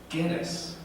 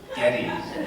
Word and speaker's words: Geddes: And he said, it's Geddes, like lettuce. Oh, okay. As opposed to what? Not Shreddies, Geddes. No, it's lettuce, Geddes. Oh, okay, I got it. So, Gary Geddes is our keynote speaker tonight.